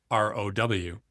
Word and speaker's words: ROW: ROW, pronounced ROW, for rest of world.